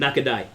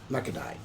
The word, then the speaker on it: Nakadai: Am I pronouncing that right? You know him? Nakadai. Nakadai.